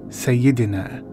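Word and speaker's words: Sayyadina: the phrase sayadina is a word from the arabic language and the word is pronounced sayyidina say yidina say yidiner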